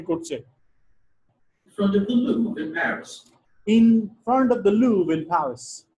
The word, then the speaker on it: Louvre: লুভার থেকে আমরা তো লুভার উচ্চারণ করছি ওরা কি বলছে লুভ্র আরটা উচ্চারণ হয়নি তাই না যে কারণে আমরা ধরতেই পারি না In front of the Louvre in Paris.